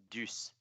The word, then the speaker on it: Duce: If it was French, it would only be pronounced that way if there was an accent on the E. DUCE is just Deuce.